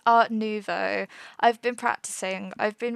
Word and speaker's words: Art Nouveau: art Novo I have I've looked up how to pronounce that so many times I'm pretty sure it's art Novo I've been practicing I've